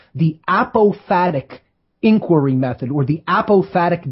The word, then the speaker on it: apophatic: And this is called the apophatic inquiry method, or the apophatic definition. Let me spell that.